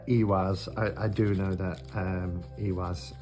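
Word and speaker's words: Ihwaz: I do know that Iwaz, the I is pronounced as E or F. E's are like E and I's are like E.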